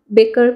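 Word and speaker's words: baker: अगर हम British pronunciation के हिसाब से देखें तो इसे हम बेकर बोलेंगे, और अगर हम इसे अमेरिकन प्रोनाउंसिएशन के हिसाब से देखें तो हम इसे बेकर बोलेंगे, क्योंकि जो ब्रिटिश हैं वो आर को साइलेंट रखते हैं।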